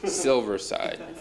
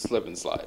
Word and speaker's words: Silversyde: and you said not to say it but silverside yes but yeah what was that story again because you told somebody don't pronounce it slip and slide right yeah we're getting ready to go on